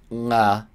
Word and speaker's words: が: So, ga is actually pronounced with like a bit of an N at the beginning. So, it's 誰が, like nga, which is not a noise you usually make if you speak English. 誰が, it's the same as